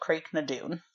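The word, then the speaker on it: Craigh na Dun: standing stone formation called creek 'no dune you would not believe how that is spelled just say it's both CR aigh space ma space D UN so like this whole time I was thinking it was pronounced differently interesting yeah okay and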